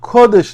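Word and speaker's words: קודש: end of the Torah, these words appear again, but not with the same pronunciation. There it says, Kodesh LaHashem, instead of, Kadosh LaHashem.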